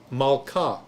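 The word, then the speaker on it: מלכה: got your hey, ka, malka, and this is the word right here, M-A-L, then K-A-H, long A, malka, and that again is your Hebrew word that demonstrates a silent shewa.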